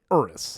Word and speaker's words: Urus: she has a Lamborghini urus that's how you pronounce it urus the thing is always